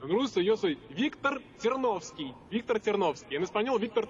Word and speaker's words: Ternovsky: ¿Cómo pronunciarlo correctamente en ruso? En ruso yo soy Víctor Ternovsky. En español, Víctor Ternovsky.